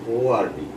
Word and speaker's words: word: মানুষ যখন হাসপাতালে রোগী ভর্তি করে তখন সেটা বলে WARD ওয়ার্ড, আর হলো WORD. Actual pronunciation is word.